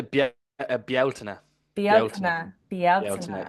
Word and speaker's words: Bealtaine: Um, to talk about Belaine or Beliana, is it Beliana? How do you pronounce it? Uh, we would say Balta Ba.